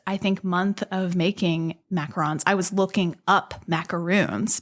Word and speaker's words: macaron: But yes, technically it is macaron. It is spelled with one O, Macaron. And then you have the macaroon, which is technically the meringue and coconut confection that's usually like dipped in chocolate. That has two O's.